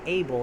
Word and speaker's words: Abel: the growth's name wrong it's like able not about so apologies for that